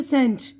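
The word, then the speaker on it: scent: अब यहाँ पर सी की आवाज़ साइलेंट है, ये देखिए ये सी की आवाज़ नहीं आएगी। सेंट, एस की आवाज़ आ रही है।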